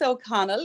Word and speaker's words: O'Connell: But, why don't you introduce yourself with a proper name pronunciation, maybe? Well, first of all, thanks for having me, Katrin. And O'Connell is my name.